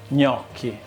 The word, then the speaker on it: gnocchi: Today we're gonna make gnocchi. Repeat after me. Gnocchi. Gnocchi. Brava. Gnocchi. It's not pronounced gnocchi, gnocchi, gnocchi.